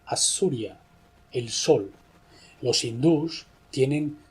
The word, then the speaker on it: Osiris: Antiguo nombre de Osiris no lo pronunciaban Osiris sino que le llamaban assuria el sol Los hindús